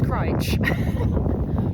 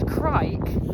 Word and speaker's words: Crich: And when I was at the tramway museum, I did ask the woman behind the desk reception how to pronounce Crich. And she told me it's Crich, but I still said Crich without even knowing on all my videos that I made.